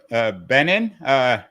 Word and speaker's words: Benen: We're speaking with Steve Benen, rhymes with Lenin, not John Lennon, but Vladimir Ilyich, although he's anything but Leninist in his approach to politics.